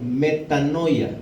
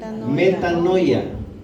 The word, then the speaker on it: metanoia: palabra que utilizó el apóstol para escribir eso se escribe en el idioma original como metanoia diga metanoia y quiere decir un cambio de mente mente